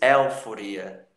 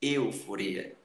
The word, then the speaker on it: euforia: Você não diz euforia, euforia. Você diz euforia, euforia. Mesmo que não haja acento circunflexo para fechar o som do E, você tem essa pronúncia correta, euforia, euforia, ok?